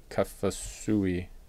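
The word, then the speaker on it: Kaufusi: Hackenberg Mackenzie Alexander Kevin byard TJ green Bronson kafasi uhuh that's how you say it Leon Karu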